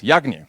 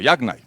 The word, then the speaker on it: YAGNI: very simple classic principle that i pronounce yagni or yagnai you're not going to